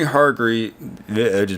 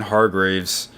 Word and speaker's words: Hargreaves: be the last usable season but for any Hartree butchered his name Vernon Hargreaves he really needs to develop because well actually